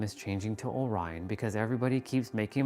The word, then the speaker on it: Orion: But they will eventually start making a mistake with my new name, Orion, because there's O''RYAN. No, that's not how you say my name either. It's Orion, like the star belt.